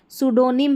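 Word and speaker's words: pseudonym: देखिए यहां पर भी सूडोनिम है। ठीक है? यहां पर उच्चारण दिया गया है।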